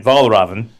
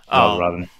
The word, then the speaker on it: Valravn: I think you pronounced it right. Valravn. Yeah, Valravn.